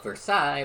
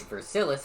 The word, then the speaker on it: Versailles: Ethos had the city of Versailles, but he pronounced it Versilis because he knows that irritates me.